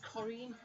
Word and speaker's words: Corinne: a couple of times americans tend to call me corrine they pronounce it corrine say whistle slave and spell my name it's on screen my brother still spells it wrong it's actually pronounced korean chorim korean it's the french way of them spelling korean like corinne bailey ray the singer alexa volume down